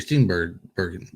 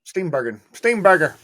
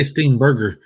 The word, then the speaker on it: Steenburgen: Mariska Hargitay or Mary Steenburgen. Right. Or however you say her name. Steenburgen. I keep want to say Steenburger. Yeah, I know. Steenburgen.